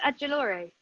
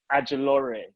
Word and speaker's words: Ajilore: Grace Adjolore. Adjolore, yeah.